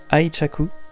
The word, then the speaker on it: 愛着: de 1868 à 1912 que le terme aurait commencé à être prononcé aichaku comme le voulait le son chinois de la on Yomi alors qu'avant il avait